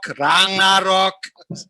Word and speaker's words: Ragnarok: Ragnarok.